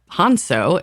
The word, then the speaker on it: Hanso: property of Captain Magnus hanso you don't get seasick hanso well Hano is how it's pronounced because we've heard that